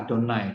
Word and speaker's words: Adonai: Jadi tulisan itu dibacanya Adonai karena itu adalah nama Allah yang harus dikuduskan dan tidak boleh disebut dengan sembarangan gitu ya.